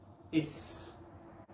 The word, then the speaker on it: ex: Una excepción que me acuerdo ahora es la palabra es. Es presidente, es governador, es prefeito, es namorado, es namorada. La palabra es, mismo que sola, tiene sonido de S.